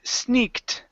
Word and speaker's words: sneaked: uh is the word sneaked okay right here give me a t sound here sneak okay sneak okay so instead of saying e sneak it's sneak okay sneaked good job good job uh